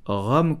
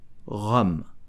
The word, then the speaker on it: rhum: So, to pronounce Rhum correctly, you will pronounce the H and the U like a O. Rhum.